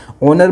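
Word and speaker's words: honour: ओनर में जो है एच साइलेंट रहता है।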